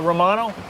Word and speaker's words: Romano: your son hi uh Romano how do you spell that r o m a n o Romano like the cheese man I hate cheese